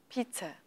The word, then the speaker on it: pizza: so very good example the stress is in fact on the first syllable pizza pizza pizza pizza